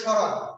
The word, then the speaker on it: স্মরণ: না তখন হয়ে যায় স্রণ তালুব সর এখানে উচ্চারণ হয়ে যাবে তালব সর একই স্মরণ কিন্তু উচ্চারণ করি স্রণ কারণ যেকন স স্বাধীনভাবে